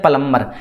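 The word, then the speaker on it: plumber: उसको हम कहते हैं प्लंबर क्या कहते हैं प्लंबर option नंबर B should be right answer ठीक है तो यहां पे प्लंबर में बी जो साइलेंट है ठीक है तो ऑप्शन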